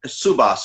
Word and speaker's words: Subas: Dr. Subas, is that the correct pronunciation? Yes, it is.